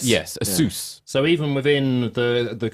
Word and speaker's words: Asus: But I think, as you say, I think they actually would say Asus. I think it's like a hard S. Yes, Asus.